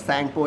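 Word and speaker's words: Tsangpo: राहत है सिको reverse सिंक को यानी की टी साइलेंट राहत है इसमें तो इसको बोलते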